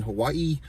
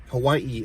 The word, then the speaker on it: Hawaii: It's like Hawaii, you know, like she pronounces every A and I, Hawaii, and then she's always saying aloha, the spirit of aloha, you know what I mean?